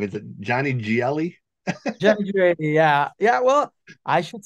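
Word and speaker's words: Johnny Gioeli: I'm going to say his name wrong. Is it Johnny Gielli? Johnny Gielli, yeah.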